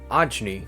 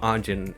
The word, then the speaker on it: Ajni: Our main character, Ajni, I've been calling him Ajin in my head, but I saw Chewy Dog one this video and he called him Ajni, so I realized I've been saying his name wrong.